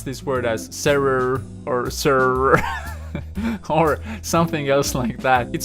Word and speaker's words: serrure: And there are some things that you notice in this word. For example, that you pronounce a U in a sentence as a U, and you also have the usual French R, which is r, coming straight from the throat.